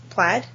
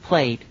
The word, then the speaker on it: plaid: Plaid. UK. We pronounce it played.